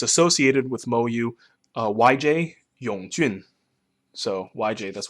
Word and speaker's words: Mo Yu: In Chinese, it's pronounced Mo Yu. Mo Yu.